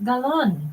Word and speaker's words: Galon: say it you gin I say galon it's galon galon yeah you can't americanize it I'm saying gon I